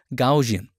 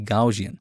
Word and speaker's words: Gaussian: Gaussian. I know I pronounce it wrong. It should be Gaussian.